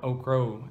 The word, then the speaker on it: okra: own tomatoes onions carrots okra or okro as it it's pronounced here and green peppers I